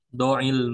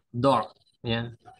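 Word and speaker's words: ضع: Do ya. Doil kalau disambung cara bacanya doil munabbiha. Tapi kalau kita baca tersendiri do ya.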